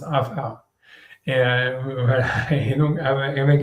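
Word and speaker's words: עפר: de la poussièreouar afar ça s'écrit avec un ain et après oui ça se prononce afar et Voilà.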